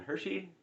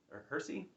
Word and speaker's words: Hersey: it's uh Hiroshima by John Hershey Hersey I guess there's no h there I've been saying it wrong for years uh so yeah this